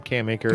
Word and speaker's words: Cam Akers: That's how you pronounce his name, Cam Akers.